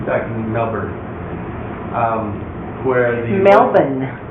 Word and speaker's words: Melbourne: Melbourne is how you say it, Melbourne.